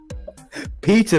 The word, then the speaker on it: Petyr: which battles that does petty Baelish not give no Petyr Baelish that's a pronunciation I have a half